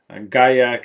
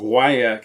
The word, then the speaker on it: guaiac: about actually or correct guy yak is the french pronunciation and why AK is the correct english pronunciation but whatever and then